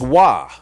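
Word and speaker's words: Roy: On this day in 2000, Patrick Waugh, spelled R-O-Y, but because I know all about hockey, I know his name is pronounced Waugh, with the Colorado Avalanche, achieved his 448th victory as a goalie in the NHL.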